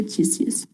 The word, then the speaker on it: Titius: Pronuncia Titius.